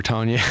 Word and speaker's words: Tonye: Tony was a big, is it Tony or Tanya? Let's pronounce it right. Huh? Tanya.